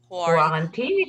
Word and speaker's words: quarantine: a very common word quarantine it's like a quarter quarantine it sounds it's it sounds like a quarter but it's not a quarter yeah okay